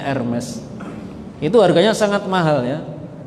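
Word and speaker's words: Hermès: Ya, ada satu jenis tas yang sangat mahal dari kulit buaya, namanya Hermes, tulisannya Hermes, bacanya Hermes.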